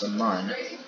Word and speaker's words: Mun: We have Kerbin, we have the moon, or pronounced the Mun, and then our second moon, which is Minmus.